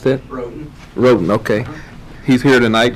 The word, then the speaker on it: Roden: How you pronounce that? Roden.